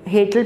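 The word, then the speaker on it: Hetal: हेटल परेख, हेटल मैं प्रनाउंस कर रहा हूँ HETL, हेटल परेख।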